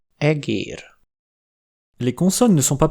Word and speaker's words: egér: E aussi change de qualité quand il est long : e, é, egér.